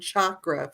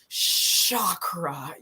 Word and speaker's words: chakra: And the original, I think it was Sanskrit language that it came from, does pronounce CH with a hard ch. And I'm not ch, so it's not sha.